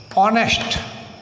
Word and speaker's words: honest: Similarly, honest man. Honest word begins with a consonant Honest, but it is pronounced as honest. O is a vowel sound.